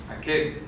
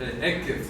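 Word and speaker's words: עקב: Akev, o Ekev también.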